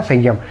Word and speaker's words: संयम: तो जब हम इसका संधि विच्छेद करते हैं तो इसमें म का उच्चारण होता है सम प्लस यम, तो ये इससे संयम बना रहता है। मतलब ये रहेगा तो अनुस्वार ही अनुस्वार रहेगा, पर अनुस्वार में इसका उच्चारण करने में क्या आएगा, म की ध्वनि आएगी।